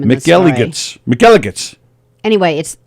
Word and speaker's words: McElligot's: Oh, but that Elegance rhymes with penis. What? What are you going to get from Well, that? I don't want to get in trouble, but it rhymes with faggots.